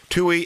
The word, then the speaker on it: Tuohy: talking to an expert today his name is tuy actually you know what how do you sp how do you say your last name you were right on the money tuy tuy all right I'm good anyway the work is